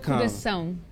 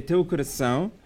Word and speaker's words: teu coração: Teu Teu coração. coração. So there's that little mark on the bottom of the C Yeah. makes us sound. So it's teu coração. Oh, Teu coração. Yeah. Okay, Teu coração, which means into your heart.